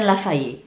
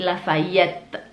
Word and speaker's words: Lafayette: Bukan Lafayette, tapi Lafayette. T-nya dibaca.